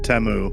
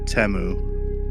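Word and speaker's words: Temu: It It is uh Teu. There was an advertisement that Teemo put on the Super Bowl and it's Teu. We're all saying it wrong.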